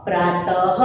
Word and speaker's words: प्रातः: करके बोलते नहीं थे, बट जहां पर आप लोगों को ऐसे दो डॉट दिखाई देते हैं तो उसका मतलब कि आप लोगों को वहां पर ह का उच्चारण करना है।